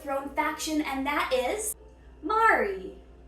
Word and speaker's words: Mari: faction, and that is Mari. Mari. It's like how the Canadians say sorry.